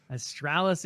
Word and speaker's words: Astralis: and australis awesome also i always want to call them like also like it's completely wrong don't butcher their name john come on you're better than that astralis and team seeker with